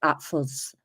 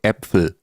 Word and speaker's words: Äpfel: We talk, no sprechen Sie Deutsch, but I like Apfels. I like Apfels. Do you like Apfels, Terry? You would say, ich mag Äpfel, so your pronunciation is not quite good.